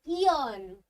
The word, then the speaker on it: yearn: Word number 5 इज यॉन। ऑन नहीं, ऑन मतलब कमाना, यॉन करना किसी चीज को, यॉन, यॉन बोलते हो आप उसे, ईयन। ठीक है, ईयन इसकी प्रोनाउंसिएशन होती है, ध्यान रखना।